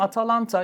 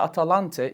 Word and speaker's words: Atalanta: geldiniz Buyurun birlikteyiz Efendim Atalanta ya da atalante iki farklı telaffuzu veya yazımı mevcuttur Yunan pinin Nadir kadın